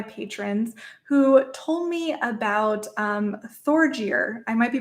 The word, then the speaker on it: Thorgeir: This example comes from one of my patrons who told me about Thorgeir. I might be pronouncing that wrong. It's Thor, Thor, and then Geir.